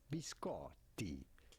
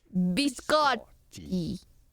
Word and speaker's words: biscotti: You do want to press on the syllable and on the double t. Biscotti. Biscotti.